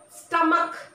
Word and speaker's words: stomach: School, stomach, chemistry, character, characteristics, scheme, schedule. So the ch words which are derived from Greek or German language have the pronunciation k.